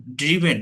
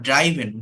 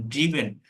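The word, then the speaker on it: driven: উচ্চারণটা হচ্ছে রিটেন, ড্রিভেন নট ড্রাইভেন, ড্রিভেন।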